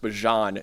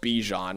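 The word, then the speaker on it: Bijan: If you don't know, Bjan Robinson came out and said, "Hey, my name is actually pronounced Bjon, not Bejon, like everyone's been saying before."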